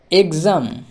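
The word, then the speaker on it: exam: সেটা হলো গজ তারপরে দেখো এক্সাম এক্সাম ই এর জন্য কি আছে এ এর এবারে এক্স এর জন্য গজ গজ তাহলে এম এম এম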